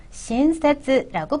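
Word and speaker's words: しんせつ: 이번에는 친절이라는 어간인데요. 신세츠라고 발음합니다.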